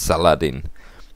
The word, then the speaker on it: Saladin: think i pronounced correctly salahaddin english sauce is usually pronounced it's saladin but i think in arabic you say it's not quite sure though so warfare and